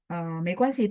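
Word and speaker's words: 没关系: 没关系 itu arti sendiri, tapi dia pininnya begini, Tiwi. 没关系 ya, nggak pakai G, tapi pakai GUAN ya, G yang apa di kuan itu harus dihilangkan.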